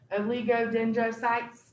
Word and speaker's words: oligodendrocytes: to remember is your oligodendrocytes lots of syllables there lots of vowels okay oligodendrocytes all right so just break it up oligo dendro okay your lego dendrocytes